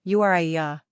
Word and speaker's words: Uriah: Hebrew number of syllables three ranking popularity 539 pronunciation Uya simple meaning Yahweh is my light characteristics of